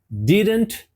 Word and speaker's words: didn't: essa frase vai ó Que estranho didn't didn't didn't mais uma vez o t não foi pronunciado mas is aqui Já